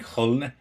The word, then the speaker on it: Köln: Are you disparaging FC Köln? So that's going to correct my pronunciation on that. And yeah, Köln, yeah, the goat. Yeah, Köln. Okay, I overdid it.